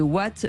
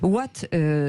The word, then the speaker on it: WAAT: Patrick Kick est avec nous, président-directeur général de Watt.